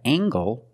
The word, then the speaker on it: angle: compare these two words we have angle spelled l e making the nasal sound and the hard G angle this is a